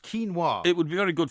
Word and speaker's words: quinoa: you know about uh this stuff quinoa it's pronounced quinoa it would be very good for you because